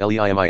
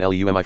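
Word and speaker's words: לאמי: Hebel Eumi Yeshayah 514, which should be pronounced Leimi, and to my mother rather than Leumi.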